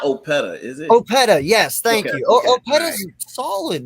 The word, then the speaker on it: Opeta: Opeta, yes, thank you.